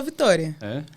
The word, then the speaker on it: Victória: nome Vitória ou Victória bom se escreve Victória sem assento né então fica Victoria mas se fala Vitória aí tem vários apelidos